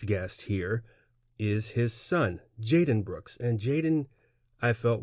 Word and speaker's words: Jadon: and relax and learn from the youth jaden is how i pronounce it correct yeah jaden jaden that's good yeah okay oh is there